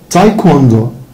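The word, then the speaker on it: taekwondo: تايكوندو، تايكوندو، نحن حبايبي الدبليو بتتنطق.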